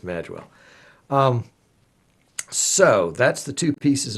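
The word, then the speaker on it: Magewell: and by the way I've been pronounced mispronouncing that mage wealth for years mistakenly so apparently I was correct no I definitely was corrected it's mad well so that's the two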